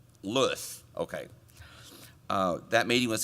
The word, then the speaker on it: Saint Louis: want to say it what's the correct pronunciation ken st louis lewis okay uh that meeting